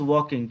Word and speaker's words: walking: गोपी dash वॉकिंग, क्या बनेगा इसमें? Gopi has been Gopi walking. वॉकिंग नहीं बोलेंगे, वॉकिंग Walking. बोलेंगे। हाँ, एल साइलेंट है यहाँ पर।